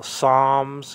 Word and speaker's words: Psalms: like they got it from pneumatic drill uh Psalms you don't mention the p and Psalms psycho